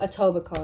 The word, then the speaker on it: Etobicoke: my gosh here we go this name again Edo big coke Etobicoke Etobicoke that's how you say it wow anyways and